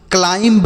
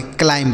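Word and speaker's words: climb: जैसे हमने पीछे पढ़ा कॉम्ब पढ़ा सी ओ एम बी तो इसे हमने कॉम पढ़ा। ठीक है? तो उसी तरीके से इसे भी हम क्लाइंब नहीं पढ़ेंगे। क्लाइम पढ़ेंगे।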